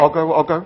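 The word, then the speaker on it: Ogoh-ogoh: But before Nippy, the night before, they have the Ogo Ogo. Is that correct? Yeah. Ogo Ogo. Ogo Ogo. Ogo Ogo please, procession. an actual pronunciation, please.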